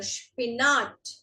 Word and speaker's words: Spinat: SP is Sp. Sp. So this is der Spinat.